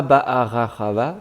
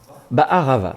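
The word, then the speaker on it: בערבה: Alors, pas Ba'arachava, tu as fait une syllabe de trop là. Ba'arava, très bien.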